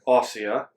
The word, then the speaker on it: Ossia: it was in Lake Ossia. I was pronouncing it right.